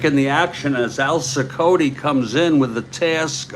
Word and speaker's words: Cicotte: Colt or Cicotte is actually the pronunciation.